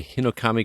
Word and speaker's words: Hinokami: makes sense again that is demon slayer the hinokami chronicles that i pronounced that correctly you did look at that